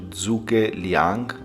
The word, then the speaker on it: Zhuge Liang: It's dedicated to Zhuge Liang, I think that's how you pronounce it, which was a military strategist and a statesman from the Three Kingdoms period.